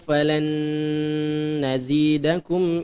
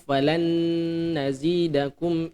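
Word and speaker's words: فَلَن نَّزِيدَكُمْ: Fadzuqu falan nazidakum illa 'adzaba. Ya, fadzuqu falan nazidakum illa 'adzaba.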